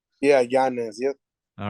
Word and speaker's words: Yanez: how do you say your last name is Yanez yeah Giannis yep all right perfect this is uh I